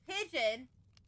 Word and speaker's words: pidgin: the moderators, but some pigeon basically. No, no, no, no. So, basically, it's not it's not pigeon as in the animal. It's not pigeon as in the animal. It's pigeon as in the language.